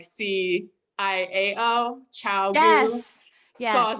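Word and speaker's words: ChiaoGoo: It's actually Chiaogu. Chiaogu. And someone in the comments said it too, and she said, remember it like Chow, like C-I-A-O, Chiaogu.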